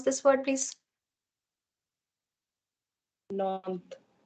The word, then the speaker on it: Nantes: How do you pronounce this word, please? Nantes. Nantes.